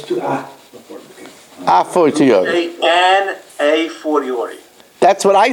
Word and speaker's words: a fortiori: A fortiori. A A fortiori. It's a fortiori, yeah, that I heard, okay. Okay. But it's two before, okay. A fortiori.